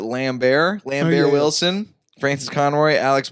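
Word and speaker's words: Lambert: Benjamin Bratt I believe I believe you pronounce it lamb Bear Lamphere wilson frances conroy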